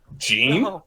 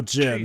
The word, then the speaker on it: Jin: Gene? No, Jin. Wait, who's Gene? No, Jin. He just... That's just how he pronounced his name, that's all.